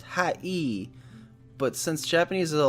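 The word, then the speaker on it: はい: The word Hi is actually pronounced hi E.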